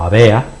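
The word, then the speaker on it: aware: escrito en caracteres occidentales como a w aare que se pronunciaría en japonés algo así como avea japonés terrible de malo pero sería así y es determina la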